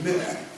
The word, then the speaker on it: Mer: The sixth level is called Mer. That's the second circle down from the top. It's called Mer. It's spelled M-E-R.